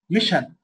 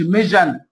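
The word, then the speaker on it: mission: طيب الكلمات اللي هتنطق فيها كانها اس اتش، شوجر، شوجر، ايشو، ايشو، ميشن، ميشن، ما اقولش ميجن، لا، زي ديفيجن واحده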